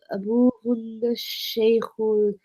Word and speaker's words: أبوهن الشيخ: So don't say Abu Hunnal and pronounce the lam because the sheen's a sun letter. Oh yeah, أبوهن الشيخ بلال.